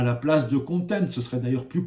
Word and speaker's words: content: On va parler aussi de content. Alors, il ne faut pas le prononcer à la française, hein, c'est stratégie de contenu.